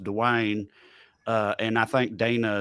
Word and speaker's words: Dwyane: now well i it's it's d-w-y-a-n-e so it's like the which i'm sorry don't make no sense but it's pronounced dewayne uh and i think